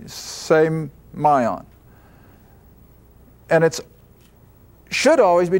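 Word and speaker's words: σημεῖον: Now that's the way I get the pronunciation from a Greek dictionary, semion.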